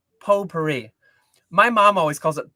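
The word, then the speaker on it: potpourri: And it's pronounced po puri. My mom always calls it pot puri.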